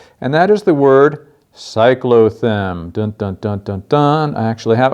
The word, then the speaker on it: cyclothem: actually contain coal and that is the word cyclo them don't-don't-don't done I actually have a part of